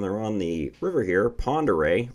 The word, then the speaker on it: Ponderay: on the river here Ponderay look up how that's spelled though you will laugh not spelled like Ponderay anyway they're on that